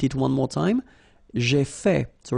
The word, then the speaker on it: fait: J'ai fait. So remember, final T is not pronounced. J'ai fait.